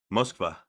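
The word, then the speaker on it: Москва: Mosva. That's how they say it in Russia.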